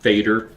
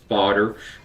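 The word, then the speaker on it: Fader: I've been informed that it is not Federer the way it's spelled it's FOD. Uh it's um Norwegian or or Scandinavian for father.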